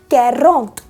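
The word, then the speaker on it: quarante: Enough और आ गया अब 40 यानी 40 कैरोंत, कैरोंत, कैरोंत।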